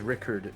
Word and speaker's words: Richard: be a dick technically we do pronounce richard as rickard in norway so rickard is probably